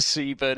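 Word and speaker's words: Seaburn: it was right yeah went to the Sea burn in yeah Ed it's how Seaborn is pronounced in ashington yeah well that's just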